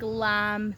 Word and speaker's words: lamb: Like lamb. They spell lamb with a B. Like sorry, they say it with a B. They're like lamb but and I'm like no, the B is silent.